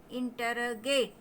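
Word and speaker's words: interrogate: इंटरोगेट। इंटरगेट ई आई से ए उच्चारण मिल रहा है, ए।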